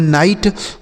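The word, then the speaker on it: night: आई का उच्चारण आई और जी एच टी से क्या हो जाता है? ट। इसे पढ़ेंगे नाइट।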